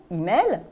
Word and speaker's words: e-mail: on peut avoir aussi une variante en le prononçant à la française e-mail en accentuant sur la deuxième syllabe ce qui peut provoquer